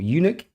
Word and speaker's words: eunuch: Varys is likely not a eunuch. How do you say that? Eunuch?